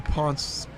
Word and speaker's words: Potts: a touchdown this year did pronounced that name Ponce so we'll try to remember that fancy okay oh had an